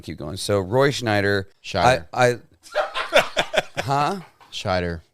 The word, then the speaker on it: Scheider: Yeah, Roy Scheider. Roy Schneider.